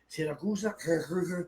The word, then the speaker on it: Siracusa: Taormina, Siracusa, You said it right, Yeah, Saragossa.